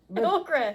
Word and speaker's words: ochre: Okra is not spelled like that. It's not? No, okra has an A. Okra. Oh, okay. Well, whatever OCHRE is, don't know. Ochre. You're saying it right. It's just not the vegetable.